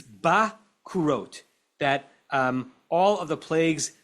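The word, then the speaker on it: בכורות: Habet bepatach, the word that we are pronouncing bechorot, it's not bechorot. Put a patach, put an a vowel under the bet. V'hakaf b'shuruk. What vowel is shuruk? U. And put an u vowel under the kaf. As if he says you should pronounce this not bechorot, but bakurot. And does that open anyone's mind?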